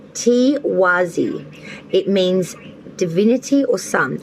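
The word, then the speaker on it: Tiwaz: let me get that for you now it's pronounced t wazi it means divinity or sun a key theme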